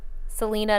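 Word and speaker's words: Celina: of rain Roger said Selena not pronounced like in Kansas because Kansas there's a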